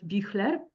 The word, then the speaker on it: Büchler: Ralph Büchler, if I pronounce it correctly in German.